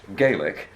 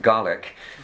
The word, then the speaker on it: Gaelic: uh but you need to know that it's pronounced gaelic if it's in ireland but it's pronounced garlic if it's in scotland again so scottish it's